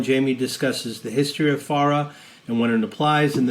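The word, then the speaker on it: FARA: ask what is a pharah as in a pharah fawcett my favorite charlie's angel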